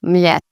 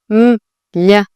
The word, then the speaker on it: Mljet: They're actually one letter, which is Y.